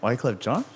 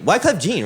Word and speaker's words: Wyclef Jean: We had the Big Brother, Big Sister thing, and then Wyclef Jean is playing. Wyclef Jean? Yeah. Who's Wyclef Jean? Wyclef. Wyclef John? John? Shakira. John? No, Jean. Wyclef Jean, right?